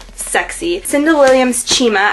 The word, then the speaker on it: Chima: Cinda Williams Chima, I've been saying her name wrong like all the time. I always say Cinda Williams Chima, but I'm pretty sure it's Chima now, so that will be rectified later.